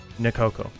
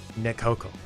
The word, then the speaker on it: Nekoko: mikoko spelled nekoko right listen listen carefully this is not correct nakoko this is correct nikoko you hear the difference nakoko nekoko get it all right